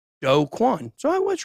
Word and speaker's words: Do Kwon: It is in fact pronounced Do Kwon.